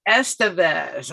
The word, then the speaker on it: Estevez: to bring to you Eric give me that pronunciation again that's the best Estevez okay and Eric you want to tell people